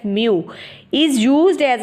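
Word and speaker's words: μ: divide कर देते हैं द ग्रीक लेटर यह ग्रीक लेटर है हमारे पास म व्हिच इज प्रोनाउंसड एज म इज यूज्ड एज अ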